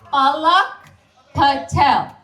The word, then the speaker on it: Palak Patel: It's pronounced Palak Patel.